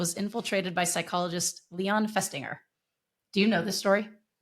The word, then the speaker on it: Festinger: Let's focus on Festinger. He's a psychologist at the University of Minnesota at the time. What What word are you saying there? Psychologist. No, I got that one. Finger. Say it again. Festinger.